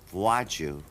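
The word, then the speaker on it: Władziu: say Gesundheit, you know, because it sounded like I was sneezing.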